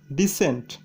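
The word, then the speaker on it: descent: Rule number 9, শব্দের মধ্যে যদি এসসি থাকে তবে সি এর উচ্চারণ হয় না। উদাহরণ সমূহ, যেমন সায়েন্স, সেন্ট, ডিসেন্ট, এখানে সায়েন্সের এসসি পাশাপাশি থাকায় সি এর উচ্চারণ হয়নি। সেন্টেরও এসসি পাশাপাশি থাকায় সি এর উচ্চারণ হয়নি। ডিসেন্টেরও এসসি পাশাপাশি থাকায় সি এর উচ্চারণ হয়নি। তার মানে সি আর এস পাশাপাশি থাকলে সি এর উচ্চারণ হবে না।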